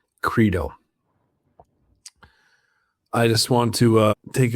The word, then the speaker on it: Crito: So when we have a vowel consonant vowel combination, the I is going to turn into a long vowel. So it's actually Crito, not Crito.